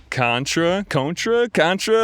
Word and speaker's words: CØNTRA: And we're joined by CØNTRA. I guess it's like, what, tomato? Yeah, whatever you want to say, usually CØNTRA though.